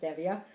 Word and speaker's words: stevia: It's a stevia, it's actually pronounced stevia, not stevia like most people think, and monk fruit, a